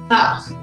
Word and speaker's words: half: Half. Half. Half. Yeah. What's I'm not wrong. Is the L, right? L. Yeah. L is a silent letter.